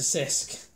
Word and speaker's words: Cisk: an 1840s and the locust are difficult to pronounce than the english worth check and crafts it's a Sisk then in nice and swear he ate the